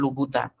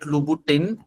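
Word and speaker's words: Louboutin: heard of uh a shoe brand called Lubbout. It's spelled like this. Please don't call it Lubboutin. The manufacturers will start turning in their graves.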